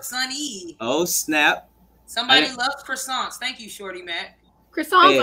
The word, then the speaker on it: croissant: Somebody loves croissants. Thank you, Shorty Matt. Croissants are fire. You about to cosplay this pumpkin? I never said phonetically. It's because it's French. So it says it's a croissant.